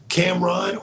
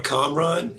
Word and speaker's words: Kamron: like my name is there's different ways to pronounce it so Cam'ron or com run is how you can do it in that bahani you